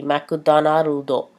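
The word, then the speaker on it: マクドナルド: So, Starbucks would be Starbucks, Starbucks, and McDonald's would be McDonaldo. McDonaldo.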